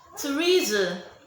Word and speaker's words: Theresa: Then Theresa, the TH in Theresa sounds T.